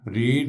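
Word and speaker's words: read: और इसके बाद वो किताब पढ़ चुकी थी, शी हैड, रीड, रेड, रेड एक ही स्पेलिंग होते हैं तीनों फॉर्म के, और लेकिन बोलने में, प्रोनाउंस करने में फ़र्क होता है।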